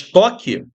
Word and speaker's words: toque: O T é pronunciado, o O é pronunciado, o Q é pronunciado, mas o U não é.